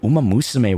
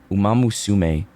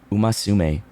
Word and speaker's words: Umamusume: I just saw a clip of the announcer pronounce it Umamusume. Umasume. Like, that's so funny. That's how they said it at the awards.